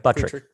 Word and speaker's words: Buttrick: them bootrick boosik buttrick there you go buttress buttrick yeah b it's tt not ss right i messed up twice